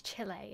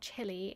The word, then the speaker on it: Chile: right though Santiago Chile I'm pretty sure it's Chile isn't it it's not chili It's Chile anyway on board